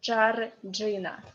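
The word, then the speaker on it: Джорджина: Accent is on E, so Georgina.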